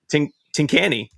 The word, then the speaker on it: Tincani: Matt Tincani.